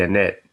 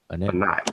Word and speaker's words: Anat: Uh, the Annette. Well, I'm saying it wrong anyway, but Oh, Annette, Annette. Anat, yeah, Anat.